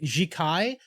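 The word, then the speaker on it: Jiříček: like I was like how the fuck do you pronounce his name so it's just like jikai and then like uh Sim was like yeah it's Jack I am like Oh okay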